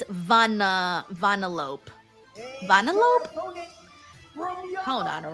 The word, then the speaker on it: Vanellope: The English pronunciation is as Vanellope. Vanellope. Vanellope.